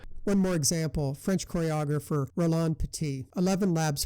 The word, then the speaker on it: Roland Petit: more example French choreographer Rolan petite 11 Labs pronounced it with a proper French pronunciation rather than the English Roland Pettit in other cases I